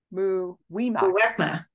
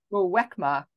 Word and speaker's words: Muwekma: Jane, please help me pronounce it correctly. Muwimaka. Muwekma, Ohlone tribe, and other familiar descendants of the Verona Band.